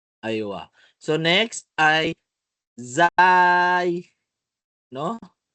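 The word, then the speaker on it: زاي: So next ay zay, no? Mayroong mga sinasabi zain o zay, no? Zay. Aywa. Zay. Ang malaga ito ay zay. Malinaw po? Za. Parang rin, pagbigkas natin ng zay, zay.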